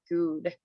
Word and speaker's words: GUUD: GUUDLifestyle, or is it Good? It's you can say good is fine.